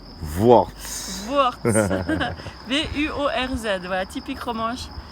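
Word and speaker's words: Vuorz: ou soit on le dit en romanche, c'est Worts. Worts. Worts. V-U-O-R-Z, voilà, typique romanche. Toutes ces syllabes ensemble.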